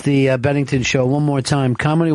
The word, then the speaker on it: Bennington: Bennington Bennington Bennington just Bennington it doesn't have to be an emphasis on any syllable just let it flow if I don't put